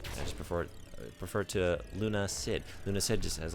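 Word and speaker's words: Lunacid: as a morning game Luna Sid hey I finally look at me pronouncing it right I still I want to say lun acid I'm not going to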